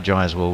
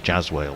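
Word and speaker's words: Jaiswal: oh that was Gary Gary's pronunciation for jawell was jazell which just somehow left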